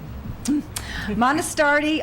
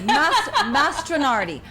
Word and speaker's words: Mastronardi: Lake Erie North Shore at the Monastardi, oh my goodness, winery. You know what? I'm going to look that up again because I have a problem with pronouncing. Thank you. Mastronardi.